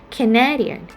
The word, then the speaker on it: Canadian: And another example like Canada. But when it turns to the adjective, we tend to have the second syllable stressed, like Canadian.